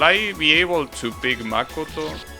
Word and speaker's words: Makoto: But I gotta understand that it's that name is pronounced Makoto. Doesn't have the stress in ma. It has it in... Wait, no, the opposite. It has the stress in ma. Not in ko.